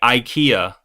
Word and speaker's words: IKEA: So Americans say IKEA, right?